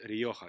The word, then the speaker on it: Rioja: wine made with tempura Nia grape which is Rioja you spell it are i oj and you you can